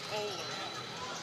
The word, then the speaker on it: Hohler: It's pronounced Hohler. I thought it was Holler, but I double checked with some Huron people.